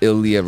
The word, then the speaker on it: Illiyah: That's ILLIYAH and then just. So it's pronounced Illiyah or Illiyah. Ill. Yes, ill. Ill.